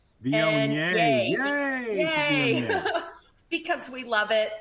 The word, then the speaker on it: Viognier: But if you're going to have a Monday, make it a Viognier day.